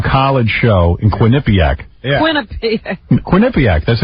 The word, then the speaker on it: Quinnipiac: Quinnipiac, that's how you say it. It's Quinnipiac?